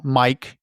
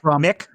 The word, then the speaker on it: Mick: Then the we're going to be introduced to his friends uh Mike and Panub. Right. And is it Mick? Mick. Oh, I'm sorry. Mick. Mick and Pub. Not Mike.